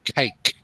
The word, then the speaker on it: cake: Must pronounce the last consonant. In this case, the k sound in like and the k sound in cake.